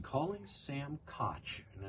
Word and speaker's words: Koch: It's German. You just add the CK at the end. No, it's not. It's a soft. No. It's a soft. It's Koch. That's German. I don't know. They don't pronounce it Kak. They don't pronounce it that way.